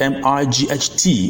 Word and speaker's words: might: after me I I the I sound is basically the sound of igh where the GH is silent for instance the word s-i-g-h is pronounced PSI the word m-i-g-h-t is pronounced might and